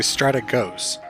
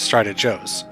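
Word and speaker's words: Strategos: up their sleeve and I believe the pronunciation for the class name is actually stratic ghosts as opposed to how I initially pronounce it which is strided Joe's ah ghost I believe it is based on a Greek word if I recall correctly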